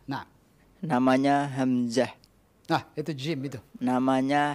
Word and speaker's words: Hamzah: Nama saya ada yang bilang Hamsah, ada khata'. Ada yang bilang Hambiah, ada asyaddu khata'an. Ya betul Hamzah. Nah. Bukan sin, bukan Hambiah, ada khata' kadalik. Hamzah. Nah. Namanya Hamzah.